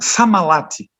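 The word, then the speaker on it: Sammallahti: Ele nasceu mais ou menos, não sei exato, acho que é 1950, e o nome dele é difícil de pronunciar, então é Pentti Samalati. Não, Samalati.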